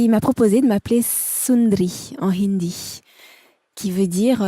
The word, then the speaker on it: Sund'ri: d a r i donc on a enlevé le a pour que ça se prononce sundri ou sundri c'est devenu sundri en fait et euh